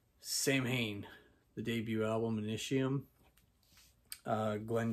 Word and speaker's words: Samhain: a band i guess technically pronounces sew-in but all of us growing up in the 80s and 90s know them as samhain the debut album initium